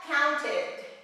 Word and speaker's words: counted: Counted, so if it ends in T-E-D, counted, like need, needed, we say needed, needed, counted, needed, listened, jumped, okay?